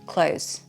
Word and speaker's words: clothes: You can just drop the th and say close. Close. Clothes. A lot of British people do.